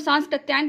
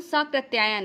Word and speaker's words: साकृत्यायन: तो देखिए हम लोग सांस्कृत्यायन पढ़ते हैं, लेकिन स्पेलिंग में आधा सा नहीं है, राहुल साकृत्यायन है।